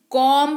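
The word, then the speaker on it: comb: कर रहे हो फिर सी ओ एम बी कोंब नहीं कॉम पढेंगे पढेंगे-लिखेंगे बोलते वक्त यानी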